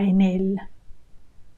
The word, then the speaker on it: en él: And en él, notice how we join these two words. En él, that is definitely just one word. When you listen to it, it should sound like one word only. En él. You link the N to the E.